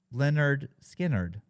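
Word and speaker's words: Lynyrd Skynyrd: first album I think pronounced Leonard skinnard is that what it's called pronounced Leonard skinnard I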